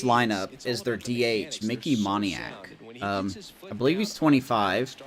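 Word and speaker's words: Moniak: going to be keeping my eye on Mickey moniac that's how you say his name for the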